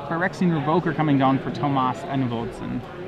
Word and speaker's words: Thomas: for Tomas and Volson it would be Tomas not Thomas uh he's he's pretty Americanized so okay so we go with Thomas yeah I'd just say Thomas all right probably the way most people pronounce it so okay and